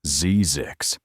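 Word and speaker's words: Zzyzx: ZX road, pronounced ZZix.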